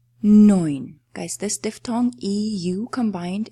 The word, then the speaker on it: neun: Neun. Neun. Guys this diphthong eu combined is producing the sound "oy" always in any word. If you see e and u together, you will pronounce it as "oy".